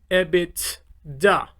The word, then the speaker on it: EBITDA: to your operating income the term would be ebit da this is pronounced ebitda and you might again hear this term a